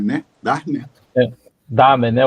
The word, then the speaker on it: Dahmen: Professor Silvio Darman, né? Darman. Damen, né? O H ele só faz o A ficar comprido, ele não pronuncia o H.